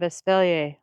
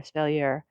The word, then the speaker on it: espalier: how the start of aelier looks or speler depending on how you want to pronounce that there were a lot